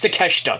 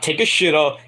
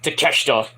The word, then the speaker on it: Kosuke Takeshita: So Kosuke Takeshita, or Takeshita, it's Takeshita, that's how you pronounce it, it's Takeshita, not Takeshita, even though that's funny to say, but it's Takeshita, saves Brian Danielson from basically career-ending arm injury,